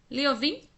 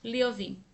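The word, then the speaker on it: Лёвин: Liovin era o apelido que foi formado a partir do primeiro nome do escritor, que se pronunciava entre seus familiares e amigos, como Liov. Para que seja pronunciado assim, a segunda letra era um E cirílico, como Io.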